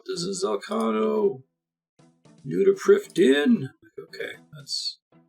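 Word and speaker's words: Prifddinas: New to Priv Din!" Okay, that's how you talk. I thought it was Priv Dennis whenever I read it, but it's Welsh, so you roll a die, and then you consult a actuarial table.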